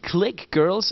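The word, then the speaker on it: Clique Girlz: Sie sind ja früher in so einer girl group gewesen, Click Girls. Am I pronouncing it right?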